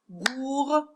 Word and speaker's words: gourmande: Si je parle de gourmande, gourmande, parce que ici, j'entends la lettre D. Voilà une syllabe qui se rajoute et j'ai plus une lettre muette à la fin, mais j'ai une lettre que j'entends.